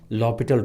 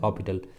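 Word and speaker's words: L'Hôpital: know you can apply lopital rule or usually it is written l hospital but we pronounce it as lopital or some some people they pronounce it as orbital okay so we'll we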